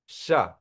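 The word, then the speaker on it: ཤ: है क्या है ये इसका उच्चारण कैसे रहेगा श है ना तो श श मींस मास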